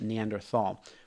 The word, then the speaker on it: Neanderthal: And here's the thing that they need to remember is when we look at the lifespan of, say, Neanderthal, or as many people pronounce it, Neanderthal.